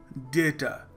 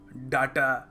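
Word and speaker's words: data: अगला शब्द है डाटा डेटा हम क्या कहते हैं हम कह देते हैं कभी-कभी डाटा डाटा सो डाटा नहीं है डेटा है डी ए वाई टी ए यह करेक्ट स्पेलिंग नहीं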